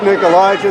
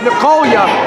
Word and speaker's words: Nicolia: lovely valet and wife, Nick Elijah, there on the outside. Oh, no, it's Nicolia. Do not mispronounce that. She will slap you. I've been there. Well, Nicolia, my apologies.